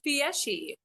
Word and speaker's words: Fieschi: How do you pronounce the last name? it's Fieschi.